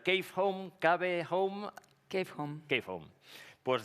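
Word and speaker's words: Kave Home: Y dentro de ¿cómo lo debo pronunciar? Cave Home, Cave Home.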